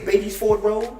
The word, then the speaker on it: Beatties Ford Road: Beatty Ford Road. The right way to say it is Beatties Ford Road. Right. But really people just say Beatty Ford.